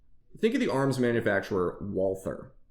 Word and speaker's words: Walther: Think of the arms manufacturer Walther. It's actually pronounced Walter in German.